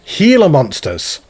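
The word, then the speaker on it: Gila monster: got the it's the Healer monsters so it's actually pronounced with a H and not a g so thank you ever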